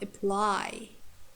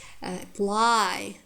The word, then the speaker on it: apply: So second syllable stressed if it's heavy. It means strong syllable. When we have long vowel or diphthongs, for example, apply, correct, apply, correct. You see, the first syllables are reduced. It has schwa sound.